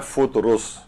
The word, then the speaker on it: فطرس: کا زیادہ صحیح اور مناسب ہے وہ ہے فطرس. فطرس بھی پڑھتے ہیں لوگ، لیکن اصل جو تلفظ ہے وہ فطرس ہے.